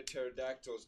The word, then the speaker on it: pterodactyls: Why can't you hear pterodactyls go to the bathroom? because P is silent.